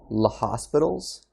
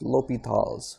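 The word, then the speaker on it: L'Hôpital: to introduce this rule which seems like it might be pronounced based off of the way it's spelled the hospitals but l'hopital's is a french name so it's pronounced l'hopital's l'hopitals so we're going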